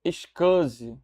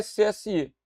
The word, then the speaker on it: SCSI: E essa sigla a gente lê com essa pronúncia. Scus. A sigla SCSI, mas ninguém vai falar SCSI. Fala-se, OK?